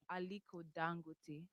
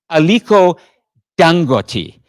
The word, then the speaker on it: Aliko Dangote: So the pronunciation, the stress is on that third syllable.